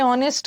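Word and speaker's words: honest: ऑन the spot अरे ऑनेस्ट के साथ ना एन ही लगेगा एन ऑनेस्ट अ नहीं लगेगा क्योंकि ऑनेस्ट में एच साइलेंट है ऑनेस्ट थोड़ी बोलता विनू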